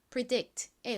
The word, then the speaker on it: predict: predict이 단어 역시 뒷부분 dict 부분을 강조해서 발음해 주셔야 되는 단어입니다. predict의 의미가 뭘까요?이 이 단어는 미리 예측하다라는 의미를 가진 단어입니다.